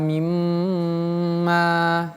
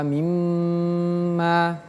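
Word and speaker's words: مِمَّا: Ingat mimnya bertasydid. Tadi kita sudah belajar kalau huruf nun dan huruf mim bertasydid maka tahannya agak lebih lama. Ditahan lebih lama. Wa fawakiha mimma gitu. Wa fawakiha mimma.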